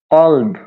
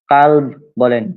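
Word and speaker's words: قلب: তাহলে যদি আপনি কফের উপরে কা উচ্চারণ করেন যদি কাল বলেন তাহলে সেটা হ কুত্তা হয়ে যাবে। কিন্তু মূলত সেটা হবে কলব।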